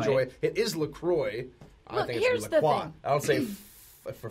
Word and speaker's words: LaCroix: look it up and I realize that rhymes with enjoy that's there that's the company says so it is wrong joy it is Lacroix I don't see but